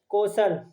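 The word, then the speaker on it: कोशल: कौशला, कौशला नहीं, कौशल, हिंदी में कौशल होगा लेकिन इंग्लिश में कौशला आ जाएगा क्योंकि ए है, लेकिन ये ए साइलेंट है, तो कौशल।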